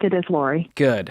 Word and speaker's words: Lori: Did I pronounce that right, Lori? That is correct. It is Lori.